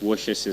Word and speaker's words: Worcestershire: And the next question is, can you pronounce Worcestershire sauce?